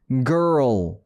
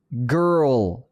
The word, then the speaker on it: girl: G-I-R-L 저거를 있는 그대로 발음하잖아요. 그러면 원어민도 이렇게 발음 안 해요. 근데 이래야 됩니다. girl, girl 이렇게 발음해야 돼요.